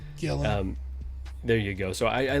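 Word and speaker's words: Gillan: Nebula is great, and I love Gillum? How do you say her last name? Gillen.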